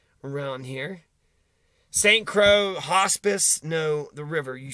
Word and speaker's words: Saint Croix: around here are you Saint Crow Crow x x is silent you're not from around